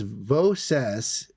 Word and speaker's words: Voces: Oh, so Wes says Voces is pronounced Voce.